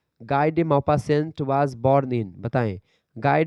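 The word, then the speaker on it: Maupassant: होती है ऐसे ही यहां पर गाय दे मोपा सेंट जो यहां पर लिखा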